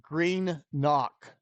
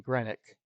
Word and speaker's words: Greenock: one live stream and he says it's green knock is the pronunciation i was always saying grenick and then so it